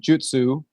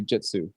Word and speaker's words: jutsu: is suppleness softness yielding and jutsu is an art or a skill and in English it just kind of sounds like Jitsu when you say it fast so we just say Jitsu with an i it's